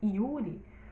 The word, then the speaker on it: Yuri: Mas quando você pronuncia o nome Yuri, o som inicial é da letra I, não é verdade?